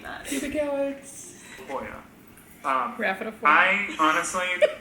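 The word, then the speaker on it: pubicalyx: Pubicalis? It's pubicalix. Pubicalix.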